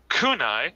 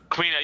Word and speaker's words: Kuina: On episode, I think it was episode 4, if I'm recalling from your podcast, when you proposed a theory of Kunai, if I pronounce that correctly, please correct me, might appear.